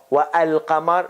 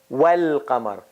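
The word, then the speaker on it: والقمر: There's no wa al qamar, no, wal qamar.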